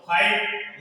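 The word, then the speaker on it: fight: इसमें भी साइलेंट है जी एच रोल कह रहा है कि आई के बाद में जी एच आए तो आई को हम आई से पढ़ेंगे और जी एच इसमें सदा क्या रह जाएगा साइलेंट रह जाएगा तो इनम क्या रह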